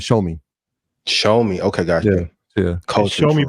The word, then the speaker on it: Xiaomi: Xiaomi, but it has an X. It's spelled with an X. Yeah. XIAOMI.